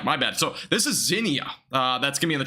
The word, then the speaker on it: Xenia: Let me make sure I get this pronunciation right, by the way. Xenia. Okay, so it's Xenia. My bad. So this is Xenia.